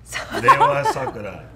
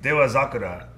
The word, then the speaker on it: Dewazakura: like the Dewazakura Sakura, Dewa Sakura. but it's called Omachi. Okay, so あの発音は発音で so the pronunciation it's Dewazakura, but I mean it's easy to want to say Dewa Sakura because Sakura is actually, you know, the cherry blossom, right?